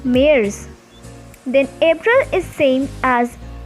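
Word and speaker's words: März: february called is febual march is different in pronunciation it is called as mayors then april is same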